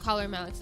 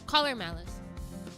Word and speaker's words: Collar X Malice: Collar X Malice. Actually, it's just caller Malice. I keep forgetting that you're not supposed to pronounce the name of the the like the X in the name.